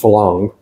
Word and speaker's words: Farang: He moved out of here, and he opened a really nice restaurant bar that caters to, well, both Thai and Falang, spelled Farang, pronounced Falang, which is non-foreigners to the tea, or foreigners to the Thais.